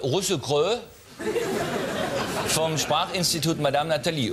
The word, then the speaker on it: Russell Crowe: Die korrekte Aussprache. Russe-Krö. Vom Sprachinstitut Madame Nathalie. Russell Crowe spielt gerade seinen, wie heißt dieser Film von ihm?